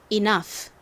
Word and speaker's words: enough: 여기까지 하면 이너가 됐고요 다음 gh 이렇게 단어의 끝부분에 오면 무슨 소리가 난다고 말씀드렸죠처럼 프 소리가납니다 바람 빠지듯이 그래서 발음을 해 보면 enough 됩니다 enough 따라해 보세요